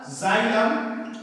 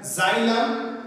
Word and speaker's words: xylem: और जाइलम, pronunciation सुनेंगे, spelling का देखते हैं, एक्स वाई एल ई एम, जाइलम एंड phloem, phloem are plant tissue।